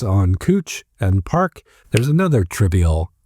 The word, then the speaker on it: Couch: It's spelled Couch, but the person pronounced their name Cooch. So it's Cooch Street. It's not Couch Street.